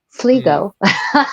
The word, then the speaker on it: Sligo: Sligo. Sligo. Sligo, Sligo, that's the right? one. I'm gonna pronounce it the medieval way, not the modern way.